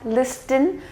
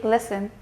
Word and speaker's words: listen: not say moist in you have to keep the T silent and yet again listen is going to be wrong it needs to be listen second rule says when